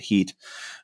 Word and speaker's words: Hit: along the Euphrates to this town called the HIT, we called it pronounced IT Heat.